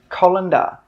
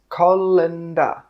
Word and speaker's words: colander: This is a colander, colander. 3 sounds, colander, colander.